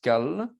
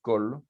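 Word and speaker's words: כל: théoriquement, on devrait dire kal, mais comme c'est une seule syllabe, on va le dire kol.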